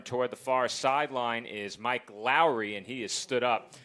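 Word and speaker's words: Mike Lowrey: Yeah, Joe, you got to say it right. It's Mike Lowry from the Bad Boys movie.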